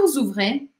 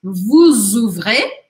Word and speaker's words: vous ouvrez: Aqui, por conta deste O aqui, que é uma vogal, eu acabo pronunciando o S que vem antes. Vous ouvrez, vous fermez.